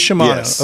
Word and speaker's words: Shimano: ask at this table what is the proper pronunciation is it Shimano or Shimano um it's sh Sho it is Shimano okay and I feel bad for not remembering